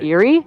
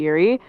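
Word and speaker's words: Eyrie: we have seen Tyrion since he left the Eerie is that how you say it the Eerie yes and two things happen the first is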